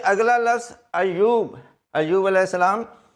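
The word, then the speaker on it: ایوب: अयूब अयूब अल सलाम इसमें यह है कि ये ऊपर शब्द और पेश है बाज लोग स्पेलिंग इंग्लिश में लिखते हैं ए वाई यू B Ayub no यह मुसद है ये अयूब यानी स्पेलिंग इस तरह बनेंगे A double Y double O B Ayub और अगला जो लज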